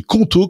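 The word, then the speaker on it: Qonto: Et c'est pour ça qu'on a choisi Conto comme partenaire de Silicone Carnet cette saison.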